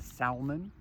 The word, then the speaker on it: salmon: one is if now you want to pronounce the l and salmon do it it's okay